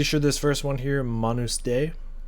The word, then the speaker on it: Manus Dei: I'm pretty sure this first one here, Manus Day, I believe is how you pronounce that. Latin, I believe.